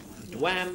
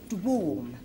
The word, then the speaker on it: dwam: Dwam is the next word. Susan Littler. Actually, it's pronounced dwarm.